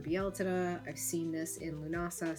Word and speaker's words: Lughnasadh: I've seen this in Lughnasadh celebrations as well or Lúnasa, depending on where you're from, how you pronounce it.